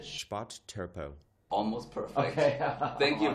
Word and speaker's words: Spotttölpel: We say Spotttölpel. Oh, yeah? Can you say that? Say it one more time. Spotttölpel. Spotttölpel.